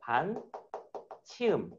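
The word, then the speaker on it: ㅿ: 이거 반 치음. 참고로 요 녀석의 발음은 아마 z 발음. 그러니까 여러분들 영어 발음에 zoo 발음할 때그 녀석이라고 생각하면 돼. z 할 때.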